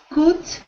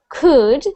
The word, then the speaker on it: could: Could. So instead of it sounding like could, like an oo sound, I want it to sound like an could.